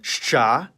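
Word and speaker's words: Щ: It's called shcha and like its name, it makes the sound sh.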